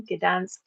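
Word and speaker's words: Gdańsk: Mystic Festival in Gdansk. I said it right this time. Gdansk in June 3rd starting, and it's 4 days.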